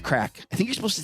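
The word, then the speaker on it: craic: using that correctly um it's not spelled the way we spell it though it's like c-r-a-i-c that's crack I think you're supposed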